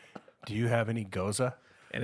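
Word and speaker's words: Gose: do you have any goza and it's not it's not gyoza like there's no Y in there but it's spelled g-o-s-e but it's pronounced goza now when I've come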